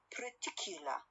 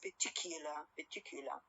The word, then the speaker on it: particular: For example, when I say the word particular, American one is pronounced like particular. R sound is a syllabic one. Okay? So BBC speakers know they pronounce the word as what? As particular.